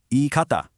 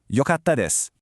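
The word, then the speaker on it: よかった: You'd get e kata and that's just wrong. Instead, for this one word, the root actually changes from e to yo. Yo, then you add the past tense ending. So, the correct way to say was good is yatis. Yokatis.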